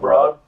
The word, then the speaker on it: Broad: the operation there Steve broad right how say his last name spell spelled broad pronounced bro so okay he loves